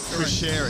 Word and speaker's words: Cuschieri: Cuschieri, there we go. I was hesitant to pronounce his last name.